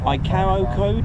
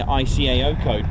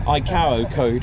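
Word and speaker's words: ICAO: Echo golf Yankee mik which is the iao code I was told that's how pronounce it I just been saying IO code but um iao code or something um there we go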